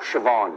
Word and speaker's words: Siobhan: that yeah uh how do you think that's pronounced this one i know siobhan yes siobhan ridiculous a lot of people say